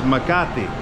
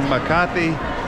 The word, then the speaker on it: Makati: of the city that we are in is maati that's spelled m a k a t i Ma and um no that's not a typo that store is typo but we are in maati city which is inside of Metro Manila the